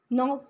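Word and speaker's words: knock: Some words have initial consonants which are not pronounced, मतलब consonants letter होते हैं लेकिन हम उन्हें प्रोनाउंस नहीं करते, जैसे ऑनेस्ट के अंदर एच को, रैप के अंदर डब्ल्यू को, नॉक के अंदर के को।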